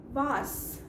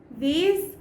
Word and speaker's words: vase: लेकिन उसकी इंग्लिश है वास, VASE, वास। नाउ अमेरिकन इंग्लिश में इसकी प्रोनाउंसिएशन वास होती है और ब्रिटिश इंग्लिश में इसकी प्रोनाउंसिएशन वेज होती है।